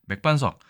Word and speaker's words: 맥반석: 글자 중에 하나죠 맥반석입니다 맥반석이고 실제로 발음은 맥반석 이렇게 되겠죠 자 맥반석 주로 어디에서들을 수 있나요